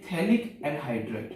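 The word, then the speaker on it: phthalic: ठीक है, इसको हम बोलते हैं थैलिक एसिड। थैलिक एसिड, यहां पे पीएच साइलेंट होता है, थैलिक एसिड, थैलिक अम्ल बोलेंगे।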